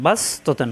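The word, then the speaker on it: بسطة: পড়বো না সিন পড়বো এখানে আমরা সিন দ্বরে পড়বো তাহলে বা মিলবে সিনের সাথে বাস আর সদের উচ্চারণ হলো বাস মোটা একটা পাতলা বাস ত জবর ত তা দুই জবর তান ততান তাহলে বাস ততান পড়বো আমরা সদ পড়বো না লেখাই থাকবে বাস ততান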